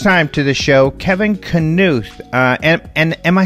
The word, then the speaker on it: Knuth: I am very happy to welcome for the first time to the show Kevin Knuth. And am I saying that correctly? Yes, that's correct. It's the Scandinavian pronunciation, so that's right.